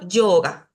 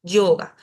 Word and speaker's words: yoga: en sánscrito es ya, si está al inicio de una palabra, se va a pronunciar como una Y, como una Y suave. Por ejemplo, yoga, yoga. No digo yoga como si estuviera diciéndolo con I latina, aunque en algunos casos,